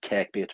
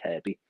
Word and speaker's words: Kirkby: And it was only later that I discovered it was in Kirby. That's Kirkby. You might pronounce it Kirkby, but it's silent K, Kirby.